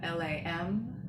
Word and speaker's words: lam: The seed syllable is lam, L-A-M. It's pronounced lam, not like lam or lamb, but lam, L-U-M almost.